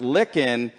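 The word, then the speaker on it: Lykken: have told me that your name is pronounced licken just like finger licking good so I think I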